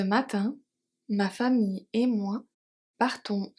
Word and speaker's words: partons: Partons à la plage. So the S in partons is silent and the E at plage.